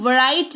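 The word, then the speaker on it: write: डब्ल्यू आर आई टी ई राइट नहीं राइट पढ़ेंगे।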